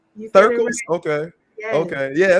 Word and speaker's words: Thirkles: Thirkles? Okay. Yes. Okay. Yeah, it's one of those things. Is it Threekles or Thirkles? It's the I before the R.